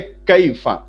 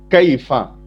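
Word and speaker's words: كيفَ: उसके बाद है कैफा, ये अरबिक क्वेश्चन वर्ड है ये, कैफा। कैफा का प्रोनाउंसिएशन क्या है? यहां पे नीचे लिखा हुआ है देखिए, कैफा।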